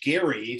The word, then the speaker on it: Gerry: uh the term gerrymandering it's named for eldridge gary so it was he his last name is is gary but but it turned into jerry with with a j basically or soft g uh over history but uh it refers